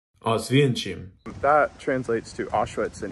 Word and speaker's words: Oświęcim: I probably did not pronounce that properly. Oświęcim. Oświęcim.